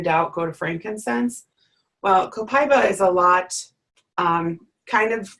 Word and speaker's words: copaiba: that on a slide there's a multitude of different ways that I hear this oil pronounced and I think that what we typically tend to say now is copaiba I know that in